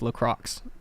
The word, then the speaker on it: LaCroix: First of all, it's pronounced LaCroix.